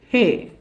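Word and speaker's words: ה: 5வது எழுத்து ஹே. அச்சுமுறை ஹே. கையெழுத்து முறை ஹே. உச்சரிப்பு ஹா ஆ.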